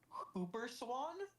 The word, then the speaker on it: whooper swan: Apparently, it should be pronounced Hooper Swan.